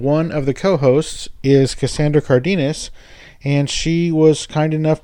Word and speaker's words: Cassandra Cardenes: Cassandra Cardenes, welcome to the show.